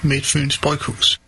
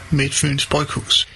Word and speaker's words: Midtfyns Bryghus: In Denmark, we pronounce Midtfyns Bryghus as Midtfyns Bryghus. All right. Yeah. We pronounce train as train. Hi. In Denmark, we pronounce Midtfyns Bryghus as Midtfyns Bryghus.